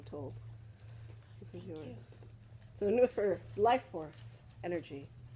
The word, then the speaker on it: nwyfre: Nwyfre. Nwyfre. Nwyfre. Yeah. Welsh is fun. N like Nancy. W-Y. F like Fred. R like Reginald. And E again. Nwyfre. W's in Welsh are always ooh.